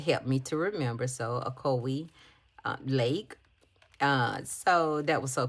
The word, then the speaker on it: Ocoee: I got to name this little stuffed animal because I had so much trouble pronouncing the actual river. I was like, Ocoee. And Jessica said, well, I can help you remember, Shanika. She said, use the jingle for Coca-Cola.